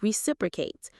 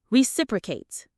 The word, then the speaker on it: reciprocate: This act of giving back is called to reciprocate. Let's practice the pronunciation. It has 4 syllables. Re-sip-bra-cate. The stress is on the second syllable. Reciprocate.